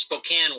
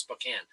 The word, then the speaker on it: Spokane: right now I'm in Spokane Washington only it's pronounced Spokane wash it spelled Spokane but it's pronounced Spokane I'm in Spokane Washington where the Gonzaga Bulldogs